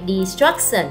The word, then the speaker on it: destruction: 3233 là dấu trọng âm, có đuôi sần sẽ nhấn trước nó. Âm 2, destruction, poverty, đuôi y dài thì nhấn cách nó một âm, tức là âm thứ nhất.